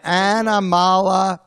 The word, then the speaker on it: animalopoeia: Animalopoeia. Animalopoeia. That's six syllables, Rocco. Yes, okay. Yeah, so it's animal. Animal. Opeia comes from onomatopoeia.